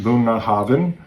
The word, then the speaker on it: Bunnahabhain: Here at Bunah Havin, pronounced Bunah Havin.